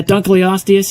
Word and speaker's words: Dunkleosteus: Is that how you pronounce it? Yeah, Dunkleosteus.